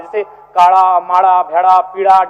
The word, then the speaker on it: भेड़ा: अड़ का महत्त्वपूर्ण स्थान है जैसे काड़ा माड़ भेड़ा पीड़ा डाा गौड़ मोड़ ये उच्चारण केवल कुड़माली साहित्य में ही संभव है